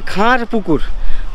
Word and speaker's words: খার পুকুর: এই পুকুরের নাম হচ্ছে খার পুকুর। খান নয়। কে এইচ এ এন খান এটা না।